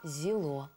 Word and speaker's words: Зело: в современном языке З И точно также произносится при чтении буква Зело з Вот например слово звезда